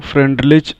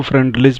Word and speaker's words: Freundlich: आप इनके नाम को फ्रेंडलिच पढ़ लीजिए, फ्राइंडलिक पढ़िए या फ्रूडलिच भी पढ़ सकते हैं। तो इनके नाम के प्रोनाउंसिएशन एक से अधिक हो सकते हैं, कोई दिक्कत नहीं है।